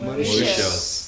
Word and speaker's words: Mauritius: Mauritius, how do you pronounce it? Mauritius.